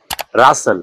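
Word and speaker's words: rustle: উচ্চারণ হবে সল এখানে এখানে টি এর কোনো উচ্চারণ হবে না যেমন বাসন ডিইউএসটিএন বাসন মানে ব্যস্ততা কর্মব্যস্ততা রাসেল আরইউএসটিএন রাসেল রাসেল মানে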